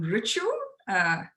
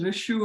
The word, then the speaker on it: Richu: I'm Richu. It's Rich with the U. I know a lot of folks actually pronounce it as Rishu or Riku.